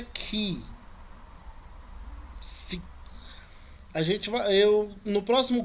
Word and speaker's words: chi: Esse aí que tá chi, a pronúncia dele é ki.